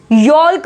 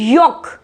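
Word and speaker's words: yolk: यॉल्क नहीं बोलेंगे, यॉक, यॉक, L silent है।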